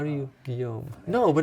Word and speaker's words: Guillaume: How do you, Guillaume? No, but it's with L's, isn't it? Yeah, no, that's how you spell it. But that's, okay. That's how you spell it, but you pronounce it Guillaume.